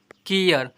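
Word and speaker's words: care: यहां पर ए का उच्चारण देखिए आठ नंबर में जब किसी वर्ड में ए के बाद आर इ आए तो ए को ए अ से पढ़ते हैं। एग्जांपल पर सी ए आर ई केयर एम ए आर ई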